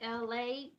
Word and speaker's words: Elay: It's me, LA, ELAY, pronounced like LA, like the city.